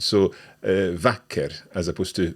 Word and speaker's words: vacker: So this is a shorter sound, so "vacker" as opposed to "bra".